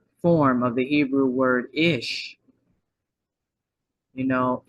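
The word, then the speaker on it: אִישׁ: is the feminine form of the Hebrew word ish you know ish that's how you pronounce it is well is Ish or ish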